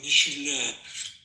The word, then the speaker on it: Michelin: Ask him to say Michelin restaurant. He go Michelin. Well, he goes to a lot of Michelin. Well, that's how you pronounce it.